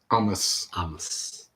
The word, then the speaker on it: Amos: Amos. Not almost or Amos. It's Amos.